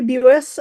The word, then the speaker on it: Bus: is Bus uh we pronounce it like Buick but bus um I'm sure it's not the correct Dutch pronunciation in fact I know it's not but that's how my husband's family has always pronounced it um excuse me I